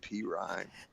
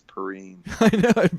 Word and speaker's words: Perrine: named really aynd they kept calling and Pierre I'm like why would you pronounce it that way even if it was my name I'd be like no dude as Perrine it's pretty you know